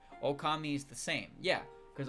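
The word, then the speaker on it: Ōkami: and the the title screen is like okami okami. Like that wasn't for dramatic effect. That's how you pronounce it.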